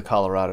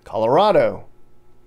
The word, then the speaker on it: Colorado: I get too far there's a debate on how to say the state's name newcomers call it Colorado locals call it Colorado well the governor here created a stir when he took a stance he said it's Colorado well I'm not saying